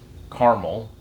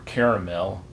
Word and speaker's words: caramel: also have a sugar-free caramel or caramel depending on what coast you live on but i'm going to say carmel because i'm in texas so if i'm saying